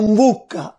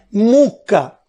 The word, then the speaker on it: mbucca: Altri esempi: italiano in bocca, siciliano mbucca, ortograficamente corretto ma che nessuno pronuncia mai, quindi si ha per assimilazione mucca.